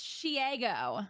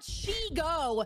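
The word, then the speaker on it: Shego: It's Shiego, like Diego. It's not Shigo.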